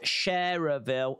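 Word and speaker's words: Schererville: do do uh I'm now located in shiverville Indiana pronounced sharerville I'm no longer in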